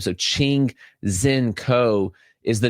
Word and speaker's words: Ching-Hsien Ko: So, Ching Zen Co is the name that you're looking at there.